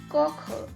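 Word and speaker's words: koche: as i told you this e is pronounced as uh in the end so this is ich kokher i am cooking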